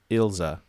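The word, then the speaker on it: Ilse: know it's um oh I looked up German pronunciation of it because most of the names in the show are German yeah and most typically German pronunciation is ilza il 's notebook and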